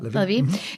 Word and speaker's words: Levie: Yeah, Levie.